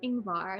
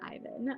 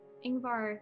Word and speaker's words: Ingvar: building and i apologize i mispronounced ingvar not ivan um ingvar maestrom uh you do